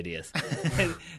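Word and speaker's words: Díaz: He's Paraguay, so I'd say Diaz. All right. So, and is playing for Real Madrid, so I'd definitely say Diaz.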